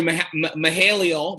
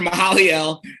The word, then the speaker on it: Mahaliel: absolutely next is dr mahalia mahalia i'm always saying his name wrong dr mahaliel uh bethea who's always